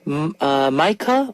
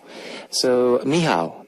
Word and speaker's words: Michał: Micah or Michael from Poland. Hi, Kevin. My name is Michał. Okay, so Michał. That's how you pronounce it.